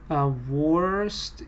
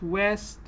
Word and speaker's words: worst: Worst, it's worst, not west. We can listen again. It isn't far. Or west. It's on the worst coast. Worst coast. So because the R is not pronounced, it makes it hard, but yes, it's worst.